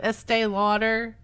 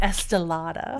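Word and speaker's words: Estée Lauder: Instead of Estee Lauder, she'd say Estelada.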